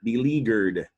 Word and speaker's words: beleaguered: that is a verb the g and b leaguer is a hard g because it's followed by a u which is pretty much the rule for g when it's followed by u as in the word guitar or gummy bears now the leaguer originates